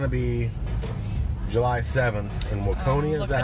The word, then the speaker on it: Waconia: And they're going to be July 7th in Waconia. Is that how you pronounce it? Yeah, they're in Waconia.